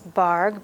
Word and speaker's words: Bargue: introduction of how to start working from the barg book the bark book is a series of lithographs created by charles bargh b-a-r-g-u-e barg is how it's pronounced and he worked in collaboration with his